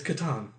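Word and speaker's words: Catan: before uh just this last weekend i played katan for the first time and i don't think anybody else here is playing i don't know if that's how you pronounce it yeah it's katan i've always no i've i watched videos i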